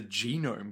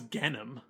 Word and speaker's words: Genom: I thought it was the Genome Corporation. I thought it was Genom. Well, it's Genom. That's correct. Genome is spelt Genome. So...